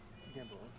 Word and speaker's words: Gamboa: Gamboa.